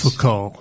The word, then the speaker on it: Foucault: Michael, I hope I pronounce his name right, Foucault. Yeah. So you don't That's pronounce Michel T's. Foucault.